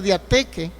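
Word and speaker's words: διαθήκη: Porque esa palabra de Gálatas 3:15 es una palabra griega, que es una palabra que se puede pronunciar diateque, es el griego diateque.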